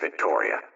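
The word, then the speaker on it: Viktoria: kisser and AUST Victoria that's VI i k t o r i a pronounced Victoria not all of these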